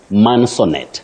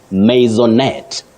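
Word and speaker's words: maisonette: agree with me that many people innocently say mansonet mansonet for this word no what you say is masonet maonet or maonet so we should avoid mansonet it's maonet that is the pronunciation of that word wow you know sometimes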